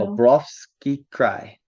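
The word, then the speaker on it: Khabarovsk Krai: Kabrovsky Cry. Wait, hold on. Kabarovsky Cry. It's Cry. Cry? Yeah. But there's there's extra vowels. I don't know. That's just how I always heard it pronounced by Russians.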